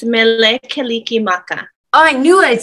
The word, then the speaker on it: Mele Kalikimaka: And I actually should say, and I might say this wrong, so correct me, but is it male kalikiama? It's mele kalikimaka.